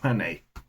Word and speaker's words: Manet: Uh Manet, man. Manet. By Manet. Well, I lost all my credibility there.